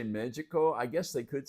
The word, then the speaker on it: médico: I'm saying magic, but they kind of pronounce the D a little funny in Portuguese, and that is actually doctor. And if you look at it, it looks like medico, but it's médico.